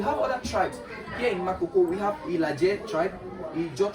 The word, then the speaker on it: Makoko: If they want to pronounce this Mahoho, they say Makoko. So that's how we have the community name called Makoko today.